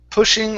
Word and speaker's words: pushing: okay one more time instead of poo poo pushing or shoving pushing or shoving okay